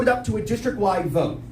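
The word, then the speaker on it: Voatz: After that, we're going to put it up to a district-wide vote.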